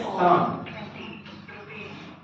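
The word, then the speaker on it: psalm: है ये एक्टिव है प साइलेंट है और एल जो है ये भी साइलेंट है और बाकी सब एक्टिव है तो इसको पढ़ेंगे इंग्लिश में साम उच्चारण कैसे होगा साम साम का मतलब होता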